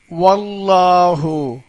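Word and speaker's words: والله: வார்த்தைக்கு முந்தி ஜபர் இருக்குது அப்ப ஜபர் இருந்தா அல்லாஹ் வார்த்தையில் உள்ள லாமை வாய் நிறைய உச்சரிக்கணும் எப்படி வல்லாஹு அல்லாஹுன்னு உச்சரிக்கணும் இன்னொரு சட்டம் இருக்கு அதை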